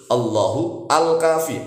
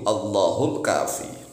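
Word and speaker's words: الله الكافي: Jadi kalau dibaca diputus-putus, Allahu al-kafi, alnya dibaca. Kalau dibaca diputus-putus. Tetapi kalau bacanya langsung Allahul, langsung begitu, Allahul kafi.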